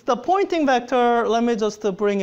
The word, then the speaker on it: Poynting: want you to note a pointing is a spelled a weird it sounds like a pointing as if I'm pointing and it's confusing because